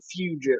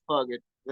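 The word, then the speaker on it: Fugitt: calling him Adam fugget his name they pronounce it fugit right but it's fun to say fugg it um the dude's had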